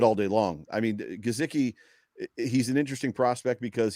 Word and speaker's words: Gesicki: It's Gesicki, and I can never say it right.